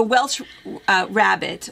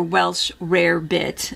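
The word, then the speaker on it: Welsh rarebit: So Welsh rabbit or Welsh rare bit, it's pronounced both ways.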